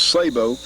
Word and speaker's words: sabot: This is called a sabot, and a lot of people call them sabots. I think the actual French pronunciation was sabot.